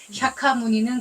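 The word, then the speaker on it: 샤카무니: 또 음한게 모니에 그래서 석가모니는 우리식 발음 샤카 무니는 그쪽 발음 예 고따마 부다는 불자의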